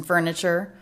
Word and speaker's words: furniture: The t here is the ch sound.